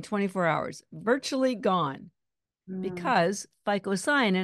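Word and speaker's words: phycocyanin: hours virtually gone because ficoin I'm going to spell that for people who are listening and not watching ficoin is spelled phy c c y a n i n FICO cyanin py c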